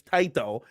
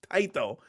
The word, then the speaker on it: Taito: Okay, it's Taiito, but he told me it's Japanese pronounce it Taiito. So, I was trying to be smart and he he screwed me all up. It's Tito. Taito.